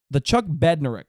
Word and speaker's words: Bednarik: His disruptive play earned him the consensus All-American honors and the Chuck Bednarik Award.